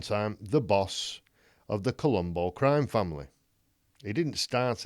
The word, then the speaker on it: Colombo: this guy joe colombo now you say colombo uh people think you know just one more question but that's spelt c-o-l-u-m-b-o this is spelled c-o-l-o-m-o colombo more close to columbus christopher columbus it's an italian name obviously and joe colombo